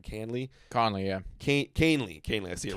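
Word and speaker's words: Kahnle: really on it yeah Kane like c a i n and then Lee all I was always saying Conley kanley um he was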